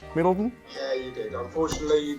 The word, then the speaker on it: Middleton: Did I say that correct, Middleton?